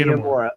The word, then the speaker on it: Inamura: Just say Inamura.